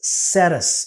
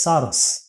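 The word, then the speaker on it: Sarrus: the second one is called as saris or you can call it as saros sarah sosaris sarus whichever way you want to pronounce it the method is uh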